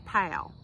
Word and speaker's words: Powell: is Powell now now that is spelled p o w e l l it looks like poell but here we say pal like P yes that's how we say it and Powell is considered